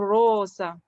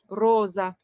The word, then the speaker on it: rosa: and then this one we need to read a soft s for example rosa rosa vaso the the soft s somehow sounded a little bit like a z a little bit like